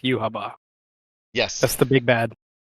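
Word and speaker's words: Yhwach: No, it's pronounced Yuhaba for some reason. Are you serious? Yeah, that's how they pronounced it in the dub, in the sub, everything.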